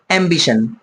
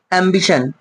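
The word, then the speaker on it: ambition: এই যে টার্মটা আছে এটা দেখে মনে হচ্ছে টিন টিন বাট পড়তে হয় সান কি পড়তে হয় বন্ধুরা সান পড়তে হয় আমরা কয়েকটা এক্সাম্পল নেওয়ার চেষ্টা করব এম্বিশন এম বি আই টি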